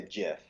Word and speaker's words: GIF: video verse all right how do you pronounce it gif or Jif it's definitely a jiff I hear people say gif and I get so thrown off mic what are y'all